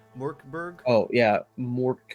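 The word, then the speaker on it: Mörk Borg: how you pronounce it it's m o umlaut r k b o um rg murkberg oh yeah more it's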